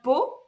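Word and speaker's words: Pau: the south of France it's called po but it's Wren P Au U so nothing to yeah it's French yeah you don't read it as you speak it um anden yeah I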